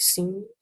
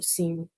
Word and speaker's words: sim: I think it's more like sim, because it's more of a nasally sound at the end.